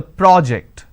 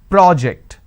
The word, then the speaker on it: project: So when I'm stressing on the first syllable, it becomes a noun. That means please submit the project. I say project.